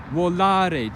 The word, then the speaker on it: volare: Volare. To fly. The stress falls on the second to last syllable.